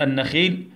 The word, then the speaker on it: النخيل: نلاحظ مع بعض كلمة النخيل بها لام شمسية، واللام الشمسية لا تنطق، وكمان الحرف اللي بعدها بيكون مشدد.